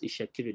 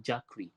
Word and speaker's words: Itsekiri: Ishakiri, they would say Jakri, they would say Jekri.